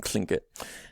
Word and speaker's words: Tlingit: native american languages including klingkit so you have an aspirated l there and then you have a t at the beginning that's sort of operating